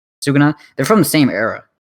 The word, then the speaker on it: Sukuna: I forgot how do you pronounce his Sukuna? name? Sukuna.